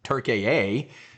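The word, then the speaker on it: Türkiye: The people are scumbags, you know, Trump was over in Turk-a-a, I guess is how they want us to pronounce it.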